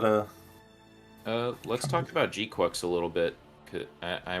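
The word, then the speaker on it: GQuuuuuuX: of the designs for gqu and I'm saying it like that cuz apparently that's how they pronounced it when I saw the movie I could have sworn I was hearing G Quacks still but I'm always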